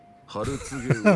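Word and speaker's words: 春告魚: お客さん、それはね、春告げ魚って読むんですよ。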